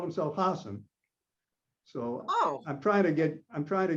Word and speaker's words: Hasaan: half years ago odin explained to me that hassan although the spelling with the two a's in the second syllable what makes you want to say hassan he actually called himself hasan so oh i'm trying to get i'm trying